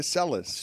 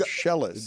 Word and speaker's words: Seles: was just a crazy fan, and it wasn't Seles, by the way, Dan. Way to hold your ground. I'm proud of you. It's Monica Seles.